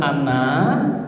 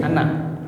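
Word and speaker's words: أنا: Tapi rumusnya adalah semua tulisan ana nanya dibaca pendek jadi ana bukan ana gitu ya.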